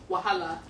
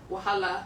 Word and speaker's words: Wahala: It's called Wahala. Okay, so that's more Yoruba-ish, right? Yeah. But a more colloquial or generally acceptable way of pronouncing it is Wahala. Wahala.